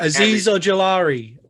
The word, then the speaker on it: Azeez Ojulari: Azeez Ojulari. There you go. There you go. Yeah. Maddie is my pronunciation specialist, and he nailed it for us because they want to make me work this year.